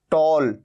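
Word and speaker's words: tall: बहुत रेयर है अच्छा ओ का साउंड कहां आता है जैसे टी ए डबल एल यहां पर ए है लेकिन साउंड क्या आ रहा है ओ टॉल या फिर फॉल तो आपने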